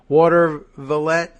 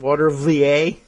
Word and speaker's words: Watervliet: Watervliet? Remember that one? I couldn't figure out how to pronounce it. Watervliet, but it was Watervliet is what people are telling me.